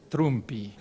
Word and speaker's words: Trumpy: my name pronounce it in Italian trumpy and don't confuse with the trumpy and uh uh so